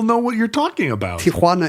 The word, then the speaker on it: Tijuana: what you're talking about Tiana is the correct pronunciation but that's not what you said you said toana I'm dumbing it down